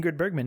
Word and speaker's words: Ingrid Bergman: Around the horn, just amazing performances, whether it is a key player in Humphrey Bogart or Ingrid Bergman. Did I say her name right? Ingrid Bergman? Ingrid Bergman, yeah.